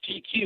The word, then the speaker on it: GQ: and he looks at he goes quirky uh quirky is that how you say it I was like no it's uh it's GQ like the magazine he goes oh I